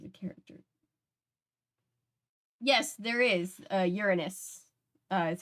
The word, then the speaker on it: Uranus: Uranus is how they pronounce their name, and yes.